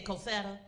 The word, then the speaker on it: Cosetta: Say Cosetta. Don't say it fancy like we're in Upper Maryland. Say it like you're down in Virginia and you just had some cornbread.